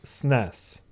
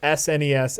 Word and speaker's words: SNES: I've heard it pronounced both SNES and SNES. Mostly I hear SNES. SNES. Yeah. What about the SNES? The SNES. You spell out each letter, or sound out each letter.